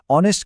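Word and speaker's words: honest: एन के लिए sound matter करता है। स्पेलिंग नहीं मतलब एच देखकर ए नहीं लगाना। ऑनेस्ट की ओ वाली आवाज सुनकर एन लगाना है।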